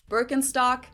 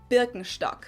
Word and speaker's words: Birkenstock: Birkenstock, Birkenstock, which literally translates to birch stick.